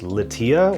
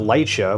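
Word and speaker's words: LYTIA: Sony latia sensor yeah it's apparently pronounced latia or not Lia which is what I've been saying over the last uh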